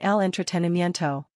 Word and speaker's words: entretenimiento: Talk about entertainment using el entretenimiento. This masculine noun means entertainment or amusement in English. Pronunciation, ehln, tre, ten, ee, me, en, to.